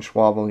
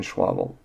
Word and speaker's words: Schäuble: Germany's finance minister, Wolfgang Schäuble, immediately called the decision clueless. Now, this ties right into the conversation that we're having on inflation and the Fed. Why would Germany's finance minister, Wolfgang Schäuble, call the decision clueless by Ben Bernanke and